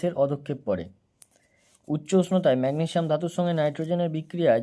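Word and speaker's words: magnesium: তো এখানে হচ্ছে ম্যাগনেসিয়াম নাইট্রাইড। এর উচ্চারণটা হবে ম্যাগনেশিয়াম নাইট্রাইড।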